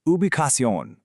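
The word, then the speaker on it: ubicación: Let's say that slowly. Uion. This means location. It's perfect for when a guest asks for directions and you want to shoot them a link to a map. And hey, a quick pro tip for you. That C sound can change. In Spain, it's often a soft th sound, but in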